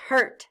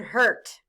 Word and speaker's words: hurt: h u r t in hurt the letters Ur are stand for the sounds ER blend with me H